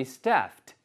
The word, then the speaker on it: staffed: even though the office is fully staffed. 아시겠죠? Staffed. 이게 S-T-A-F-F 다음에 ED가 붙으면 발음이요.